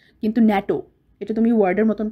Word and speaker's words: NATO: ন্যাটো একটা ওয়ার্ডের মতন প্রোনাউন্স করা হয়, ন্যাটো, কিন্তু আমরা NATO বলি না, আমরা বলি ন্যাটো।